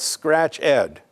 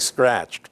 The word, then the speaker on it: ScratchEd: to another website called scratch ed so it looks like scratched but it's pronounced scratch ed and that's a site